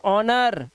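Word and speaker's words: honour: आया हुआ है ओ से पहले एच तो ऑनर ओ से पहले एच ऑनेस्ट ओ से पहले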